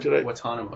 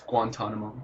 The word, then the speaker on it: Guantanamo: I think you just dropped the first N. You said Guantanamo. It's Guantanamo. Guantanamo. Like the bay.